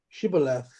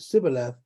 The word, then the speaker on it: shibboleth: would say to him say now shibboleth but he but he said sibileth but they could not pronounce it correctly then he sees him